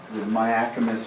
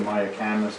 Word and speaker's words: Mayacamas: Cobb Mountain, the Mayacamas or Mayacamas, depending on how you want to pronounce it, chain is what forms the Napa Valley.